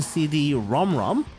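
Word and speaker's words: CD-ROM²: in response to ncpc engine CD ROM ROM and yes that's how it's supposed to be pronounced the world's first console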